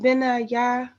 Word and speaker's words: Benaiah: Benaiah. I've never not speak nobody's name. Oh, Benaiah. Okay. Benaiah.